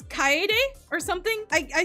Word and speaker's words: Kaede: And so I pronounce the names like an American instead of the way they would pronounce it in Japan.